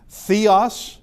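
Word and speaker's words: θεός: Uh we could have a theta and it's th as in theme. And uh theos is the word for god.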